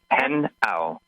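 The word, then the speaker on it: Hnao: vowels in there henow h n a o pronounced henow there you go thank you thank you so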